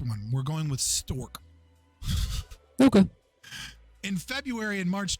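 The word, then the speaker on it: Strzok: records prepared by storzik how do you say it struck that's the only way I've heard it pronounced in multiple news sources and very famous podcasts I getting this stupid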